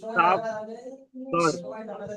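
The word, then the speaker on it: صبر: তাওয়াসাও বিস সাবর, ওয়াতাওয়াসাও বিস সাবর। সব, সবর, রটা হালকা উচ্চারণ হবে।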